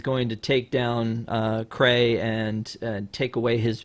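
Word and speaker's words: Krei: going to take creed cray down and um by the way i thought it was spelled like like being cray-cray like k like c-r-a-y but it's k-r-e-i just like it sounds no it's not like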